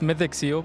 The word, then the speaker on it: Mythic Seal: It's Mythic Seal, but the Burmese pronounce it as Mythic, which is not the correct pronunciation. But Mythic Seal, that's the correct pronunciation, yes.